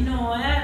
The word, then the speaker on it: Nòe: Il progetto si chiama Noe come me, su Instagram mi trovate come Noe Music, su Spotify Noe, l'accento è sulla O.